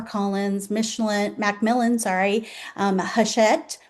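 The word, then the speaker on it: Hachette: Michelin, McMillan, sorry, um, Hashet, which I had to look up how to pronounce that by the way. I I've always called it Hatchet. Yeah, that's not right. It's Hushet Book Group and Simon and Schustster.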